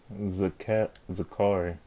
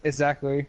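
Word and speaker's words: Zacari: Zakari. No, it's Zachary. That's how you say it, Zachary.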